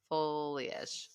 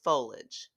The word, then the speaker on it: foliage: self appreciated it yeah you're welcome heavy F folage foliage foliage really foliage no I sound foliage folage